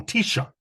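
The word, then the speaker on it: תשע: No, Tisha and Shiva are the 2 that are actually in the masculine singular form, are actually spoken and with the stress on the first syllable.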